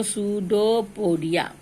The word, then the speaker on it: pseudopodia: Then the amoeba take in food with the help of a false feet called pseudopodia. And I've already told you that P is silent in this case, so pseudopodia.